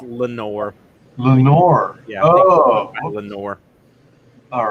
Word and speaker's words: Leonore: I think it's actually pronounced Lenore. Lenore. Yeah. Oh. Lenore. All right. I know it does look like Leonore at first, but I think it's just Lenore.